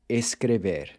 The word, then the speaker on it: escreve: And the same thing goes for escrever, to write. Escrevo, escreve, and escrevem.